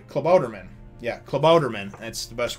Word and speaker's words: Klabautermann: And he goes and he says, and he uses this big long name, and I think he calls it, Klautermann. Wait, no, I'm sorry, Klabautermann.